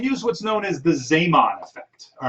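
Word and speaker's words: Zeeman: what's known as the zamon effect all right it's spelled z-e-e-m-a-n looks like it might be z-man uh but he was dutch so it's sema all right um the zaymon effect uh is something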